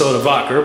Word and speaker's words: Odoacer: Well, actually in English it's Odovaker, but we really don't know how the barbarians pronounce their names.